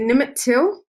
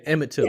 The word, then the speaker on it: Emmett Till: Oh, is it Nimit Till? I've said it wrong. Yeah, Emmett Till.